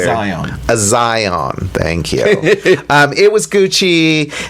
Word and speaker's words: Azion: Azion.